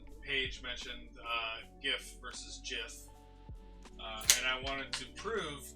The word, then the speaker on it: GIF: word speech was this it's pronounced jiff not gif and yes that's how